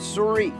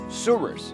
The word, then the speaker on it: Souris: the Mouse River locally, the pronunciation has been fully Americanized over the decades. The French would call it Souris, whereas North Dakotans have created their own pronunciation, Souris.